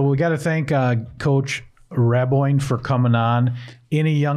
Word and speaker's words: Raboin: So that was Coach Raboin. No, that's not right. It's Raboin. Yeah, that's interesting.